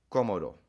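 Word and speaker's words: cómodo: other word for comfortable, which is accent is on the O. This is a very useful word. We're going to do it in the in the test. So, please memorize that. Commodo, not because there's an accent on the first O.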